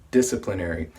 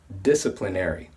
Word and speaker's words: disciplinary: disciplinary the pronunciation is disciplinary we stress the first syllable dis and the third syllable NER disciplinary so one common way